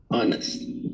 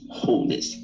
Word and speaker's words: honest: silent h oh but the first one is honest honest it's not wholeness it's honest second one is oh